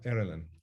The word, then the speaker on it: Aaralyn: So this is Aaralyn. Is that correct pronunciation? Yes. Yeah, Aaralyn.